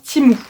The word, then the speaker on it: Temu: ils nous disent bien que TMU, ça se prononce Timou.